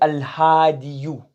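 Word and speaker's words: الهادي: So instead of saying al-hadiyu, what's easily pronounced? Al-hadi. Because the ya having a dhamma is what is called thaqil. So instead of saying al-hadiyu, what do you say? Al-hadi. You remove the dhamma.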